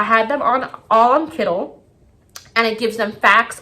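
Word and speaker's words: Kiddle: started their research so i put them on kittle kittle i think i'm pronouncing it correctly k-i-d-d-l-e kittle dot co c-o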